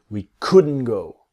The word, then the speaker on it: couldn't: we couldn't go tomorrow the t is silent so it becomes we couldn't go this is what we want to practice we couldn't go we couldn't go that